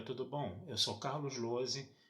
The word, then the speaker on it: Lohse: Meu canal no YouTube é o Carlos Lose. Lose se escreve Lohse, se escreve com Z.